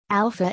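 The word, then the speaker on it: Alfa: Alpha is spelled with an F as it is in most European languages because the English and French spelling alpha would not be pronounced properly by native speakers of some other languages, who may not know that PH should be pronounced as F.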